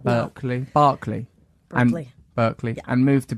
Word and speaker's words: Berkeley: Berkeley.